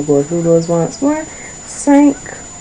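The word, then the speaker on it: cinq: for me okay so now you have five sank so make sure that was your pronunciation sank next we have 16 says.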